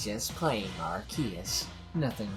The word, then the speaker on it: Arceus: I'm sorry, it's pronounced Arceus.